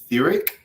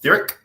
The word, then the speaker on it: Theoriq: Sapien and I'm going to, I hope I don't butcher this, but Theric, like theory, but with like an IQ at the end of it. So Theric, I'm going to just say it like that.